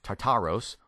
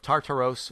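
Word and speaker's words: Τάρταρος: form of the word Tartarus and or not tartar sauce by the way tartaros or tartaro you can tell English is my native tongue I can't speak Greek worth beings but this is the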